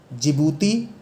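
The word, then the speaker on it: Djibouti: दिखे रहे हैं इरिटेरिया जिबूती इसमें दी जो है वो साइलेंट है और सोमालिया तो रित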